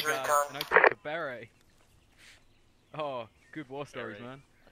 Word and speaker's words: beret: and I took the beret. Oh, good war stories, man. I took the beret. That's the correct pronunciation, bitch. Beret. Correct.